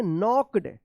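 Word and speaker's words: knocked: एंड अब देखिए यहां पे एन से पहले के है तो क्या पढ़ेंगे? नॉक्ड एन के एन ओ सी के ई डी नॉक्ड।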